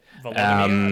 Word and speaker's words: Volodymyr: The president of Ukraine, Vladimir Zelensky, I said Vladimir Zelensky, that's not right. Volodymyr? I think, my Ukrainian is non-existent, but yeah. Volodymyr, I believe it's pronounced.